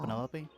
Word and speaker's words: Penelope: Penelope? Officially, yes, but I never can be bothered with all 4 syllables of it.